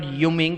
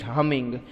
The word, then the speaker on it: humming: on this what humming it is not uming it is humming pronunciation also should be